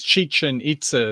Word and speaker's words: Chichen Itza: yeah chichen itza yeah it says chicken but it's chichen itza is the way it's pronounced okay well this is